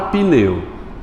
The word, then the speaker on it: pneu: Na palavra pneu, o P, por mais que eu pronuncie pneu, na verdade a pronúncia correta seria como? Pneu. Pneu. Isso, PN, né? É mudo.